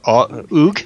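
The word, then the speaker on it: Ogg: in Og Vorbis, or Oog. How do you pronounce that? O-G-G. I assume it's Og. Yeah. O-G-G, Og. Og.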